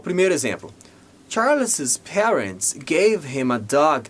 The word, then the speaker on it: Charles's: A gente diz Charles's.